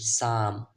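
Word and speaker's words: some: এরপরে দেখেন এস ও এম ই, সাম, সাম, এস উচ্চারণ হবে সা, এম এর উচ্চারণ ময়ের মতো, লাস্টে এর উচ্চারণটা হবে না।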